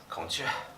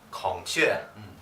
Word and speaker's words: 孔雀: 孔雀. 孔雀.